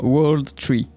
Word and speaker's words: W0rldtr33: dit le titre alors comment prononcer ce titre W Z non World tree euh donc c'est bien